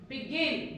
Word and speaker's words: begin: begin, Begin. begin। Begin. आपने देखा कि स्ट्रेस कैसे stress has shifted over here, okay?